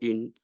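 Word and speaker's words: 爱: not and canot Miss in Chinese the word AI is pronounced as I which means love AI for good means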